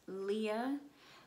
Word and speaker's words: Leah: to pronounce my name its Leah like Aliyah but without the a in the beginning of it so just Leah I am a surgical